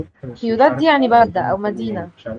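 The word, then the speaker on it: ciudad: حاجه بيقولدو مش احنا قلنا ان السي بعديها اي او اي تبقى بتنطق ساء ا ا ا فسيوودد تمام دي اول حاجه سيوداد دي يعني بلده او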